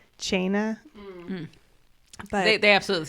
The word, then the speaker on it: Teine: I mean, how to pronounce it in actual Gaelic, and it's like Chaina. But They absolutely say tiny.